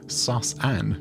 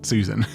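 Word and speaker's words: Sus-an: so i won't yeah i think it's pronounced sauce anne not susan the sus and membrane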